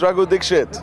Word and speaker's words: Raghu Dixit: Can you please pronounce the last name for me? It's Raghu Dixit. Dixit? Yeah, Dixit.